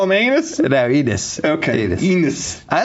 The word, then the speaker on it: Enes: Did you just call him Anus? how do you say it? Enos.